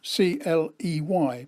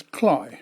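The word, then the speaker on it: Cley: shops we stopped at kly next the sea that's spelled c l y but it's pronounced by the Norfolk dumpling as cly so I call it cly next the sea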